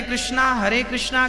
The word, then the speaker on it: कृष्ण: इसलिए हमारे यहां जो महामंत्र है उसमें दोनों का युगल नाम है, हरे राम राम राम हरे हरे, हरे कृष्णा कृष्णा कृष्णा दोनों का नाम है।